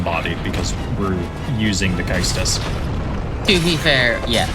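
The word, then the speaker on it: Caestus: then immediately gotten bodied because we're using the Kaistus. To be fair, yeah, Kaistus is your punchy.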